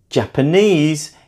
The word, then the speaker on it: Japanese: Japanese is also stressed on the third syllable. Compare that to the earlier word of Japan, where we stressed on the second syllable. It's like the stress moved along in those 2 words.